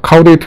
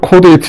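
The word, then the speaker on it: caudate: 제 발음이 별로 안 좋지만 원래는 코데이트 뉴클리어스 이렇게 불러야 맞죠. 코데이트라는 건 꼬리를 의미하는 거, 코다라는 건 꼬리를 의미하는 라틴어고 그래도 흔하게 그냥 카우데이트 이렇게 불러가지고 말이죠.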